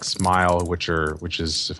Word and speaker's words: SMIL: I use JavaScript um smell oh it's it's officially pronounced smile but I don't get it I mean there's no e in the end smell is dying it's it's